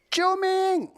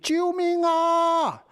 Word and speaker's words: 救命: By the way, there is a variation to this 救命, and you can add an extra "ah" sound at the end of 救命. 救命啊!